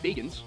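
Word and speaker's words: Bagans: And I do realize his name is pronounced Baggin, but Baggins is funny.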